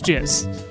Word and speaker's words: jizz: is Canon so like instead of jazz it's jizz like because it has